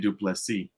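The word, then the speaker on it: Du Plessis: Well, whatever Burt says is how it's officially pronounced. Yeah, it's definitely Duplessis.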